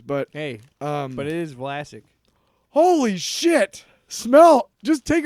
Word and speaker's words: Vlasic: Classic rhymes with Vlasic.